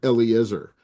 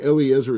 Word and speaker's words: Eliezer: And by the way, Eliezer is not the name, Judy, I didn't correct you before, but Aaron's son's name, Eleazar, who's the priest, is not the same name in Hebrew as Eliezer, although it's spelled funny in the translation, but they're 2 different names.